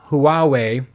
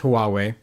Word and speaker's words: Huawei: I can never pronounce this. Hui Huawei, I think it's Huawei dropped a 18inch foldable laptop with no physical keyboard called the Matebook Fold.